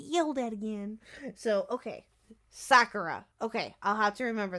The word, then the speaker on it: Sakura: Is it Sakura or Sakira? It's Sakura. Sakura. Thank you. Okay. I want to make sure that I say that right and I get yelled at again. So, okay. Sakura.